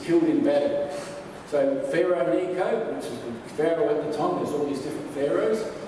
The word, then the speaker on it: Necho: So Pharaoh Necho, which was the Pharaoh at the time, there's all these different pharaohs, N-E-C-O, that was his name, Necho, Pharaoh Necho, it rhymes.